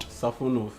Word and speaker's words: Safonov: No, but like it's pronounced like Safonov. Like the Russian, Russian style.